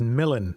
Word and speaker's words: Millen: Yeah, so it's pronounced Millen, by the way. I get it a lot, don't worry. Okay, Millen.